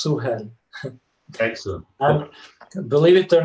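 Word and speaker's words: Suhel: pronouncing your name correctly yes it's s-u-h-e-l it's suhan excellent believe it or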